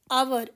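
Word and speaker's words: hour: आवर H silent है।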